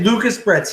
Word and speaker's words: Lucas Bretz: So when people say Lucas Bretz, his YouTube channel is about the natural aquarium. That's that's the right way to say it.